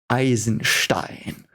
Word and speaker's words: Eisenstein: You want me to pronounce it how it's pronounced because that's German. Eisenstein.